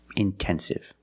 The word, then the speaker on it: intensive: But if the stress is after NT, then you have to pronounce the T like a pure T. Intensive.